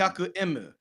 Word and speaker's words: hyaku emu: They just spelled it out like you're spelling like you're phonetically spelling out the letter M. So Mm-hmm. hyaku emu.